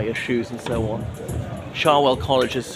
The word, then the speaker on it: Cherwell: that flows through Oxford I know it's spelled cherwell but pronounced charwell so charwell college has